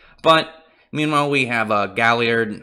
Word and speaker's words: Galliard: meanwhile we have a Galliard I don't remember if that's how you pronounce his name with pretty sure it's Galliard and hope it's gali ad 99% sure and there's an R in there by the way he